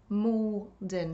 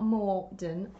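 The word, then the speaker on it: Maldon: Malden, not Morden.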